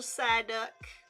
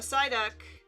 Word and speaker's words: Psyduck: spell it right and if I don't say the P sound for the silent P it doesn't go in the word once I spell it okay okay cool um all right so a Psyduck a Psyduck is gonna